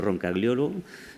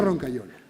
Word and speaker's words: Roncagliolo: que esforzarme para repetirlo, que se pronuncia Roncagliolo. Yo digo Roncaiolo. Es más fácil.